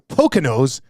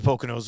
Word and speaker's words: Poconos: Could be a lot of Poconos, like poking a nose. Is that how it's spelled? I don't even know. Poconos. Apparently, according to Poconos. According to Poconos, you think that's what it is? It's not the Poconos. It's got to be the Poconos. Maybe the S is silent. Has to be, I think.